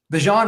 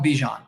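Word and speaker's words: Bijan: they'll be like oh my name's actually pronounced like this after like so many times and because it gets people talking about him like Bjan Robinson. I remember everyone called him Bjon and then in the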